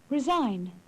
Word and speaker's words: resign: The silent G. Campaign. Sign. Champagne. Resign.